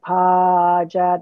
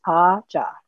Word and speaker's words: Paja: would listen to it they got pager they would mispronounce and i would say no it's pa jah and seemed like some